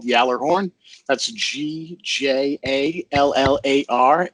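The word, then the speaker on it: Gjallarhorn: one this one's rough it's from the Swedish version but it's called Yeller horn that's GJ a ll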